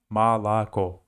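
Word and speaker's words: молоко: say do you oh sometimes it's pronounced like a and in this case is malaco but in the end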